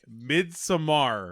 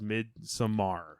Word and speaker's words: Midsommar: going to talk about I'm going to say it mid Samar mid Samar Midsummer Midsummer Samar this this is America M right do it yeah we don't I think that's how he pronounced it midar how he was saying it on that podcast yes yeah so we're